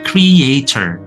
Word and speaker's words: creator: Nah, di sini kita bisa lihat ada tiga suku kata. Creator. Jadi kreator di sini itu dibacanya creator. Kalau British English R-nya hilang atau tipis-tipis saja. Tapi kalau American itu clear ya, enggak perlu dikurung-kurung. Jadi content creator. Creator tiga suku kata.